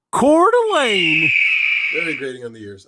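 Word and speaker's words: Coeur d'Alene: on Sheriff Norris of K de Alo I'm just kidding uh the way you pronounce that city name I learned is actually cordelane very grading on the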